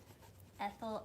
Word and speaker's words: ethyl: No, like ethanol. Like ethanol. Okay. If that's wrong, I uh stand by what I said. Ethyl. Ethanol.